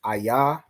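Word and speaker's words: איה: So to say where are you going, you're going to say where, which is ayah. So it's AHYA.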